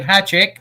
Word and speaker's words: Hajicek: This is Doug Hajicek. I believe I pronounced that correct.